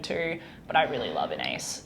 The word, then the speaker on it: Inais: get annoying like yeah an ace rhymes with face an ace rhymes with